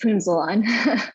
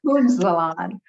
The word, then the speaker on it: Punzalan: It's Punzalan. Punzalan.